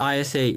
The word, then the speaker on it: ISA: When you say ISA in English, it sounds like interest. So, what about interest? Of course, it should be pronounced as I and S, but it sounds similar to interest.